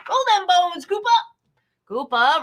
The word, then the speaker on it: Koopa: them bone scoop up koopa rhymes with hoopa okay all right quiz